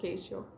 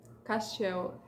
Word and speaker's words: Castiel: I hate that his name in English is pronounced Caistio. Porque é o Castiel. Castiel is the right pronunciation.